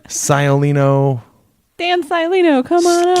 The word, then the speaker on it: Sciolino: Speaking of Dan Sciolino, remember at the karaoke wedding how every time Dan requested a song, you purposely pronounced his last name wrong? Yes. Dan Scalino, Scoliano, Scoliosis. Sciolino.